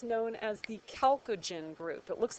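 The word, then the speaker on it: chalcogen: the oxygen group but it's known as the calogen group it looks like chalogen but it's pronounced calogen and then last couple we' got the halogens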